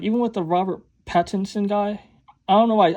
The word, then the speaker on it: Pattinson: Because I used to thought like it was Patterson because everyone says Patterson, but when I see how it's spelled, it's Pattinson.